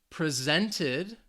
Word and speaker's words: presented: the first syllable syllable presented presented so this is the verb the stress is on that second syllable again this is in